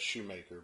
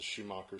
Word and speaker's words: Schumacher: Some people may pronounce that Shoemaker, but this is a Schumacher Speed Charger 1.5.